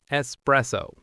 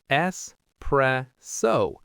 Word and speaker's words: espresso: Word number 1, which we opened the show with, espresso. Slow model, espresso. Normal speed, espresso. Now you try. So there's no X sound at all. It's an S. Espresso.